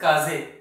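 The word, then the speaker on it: 風: Kaze ana, kaza ana. This kaza means wind. In previous videos we have learned that the kanji pronunciation for wind is kaze, but the other way of pronunciation is kaza.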